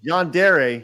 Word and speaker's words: yandere: you have a neurodivergent sneeze right I can't pronounce Yan is it Yan yand hey you're yere there you go yandere he's neod diverent welcome to the club let's